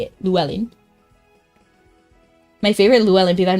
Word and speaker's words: Llewellyn: And he said that's how you say it, Llewellyn. My favorite Llewellyn, because I've never heard a single person pronounce it right.